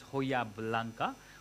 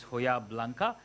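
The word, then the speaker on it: Hojiblanca: going to use the hojab olives which is pronounced as hoya blanca okay um it is hoja in spain the j has gone home is silent so it's hoya blanca and these are the black olives then i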